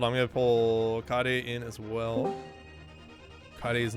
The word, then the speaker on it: Kaede: It's Kaede.